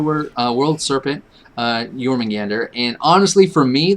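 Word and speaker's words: Jörmungandr: of the nine and encounter the world serpent jormungander nailed it well i thought no it is not pronounced jagermeister i see your notes in there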